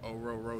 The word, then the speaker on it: Orhorhoro: told them it's like Oh row row your boat so just remember that two HS are silent and yeah but it's